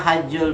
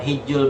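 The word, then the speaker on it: حج: Wa khamisuha, dan yang kelima hajjul baiti atau hijjul baiti. Ada yang bacanya hijju, ada yang hajjul.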